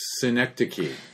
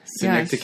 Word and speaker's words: Synecdoche: There's one movie, I don't know how to pronounce the third word. It's called New York. Oh, Synecdoche. Yes. Synecdoche, yes.